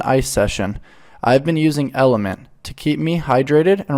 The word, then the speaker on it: LMNT: journey as a mom lmnt pronounced element is a tasty electrolyte